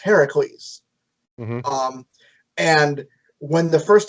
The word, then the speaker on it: Heracles: like they don't say hercules because his name is technically supposed to be pronounced heracles um and when the first time they say it heracles zeus says yes because